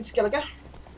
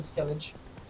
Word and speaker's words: Skellige: Okay, so we're in Skellige. I'm gonna pronounce it with the hard G rather than Skellige.